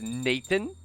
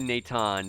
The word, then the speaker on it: Nathan: Chennai or not Nathan I know it looks like it's it's spelled out as Nathan Nathan but it's actually Natan because they said it in the story and he said Nathan